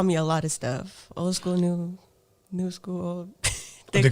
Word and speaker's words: OldSkoolNu: mess up her name old school new what's going on did i say it correctly yeah you said it correctly i don't know i want to say keep saying new school a lot of people do a lot of people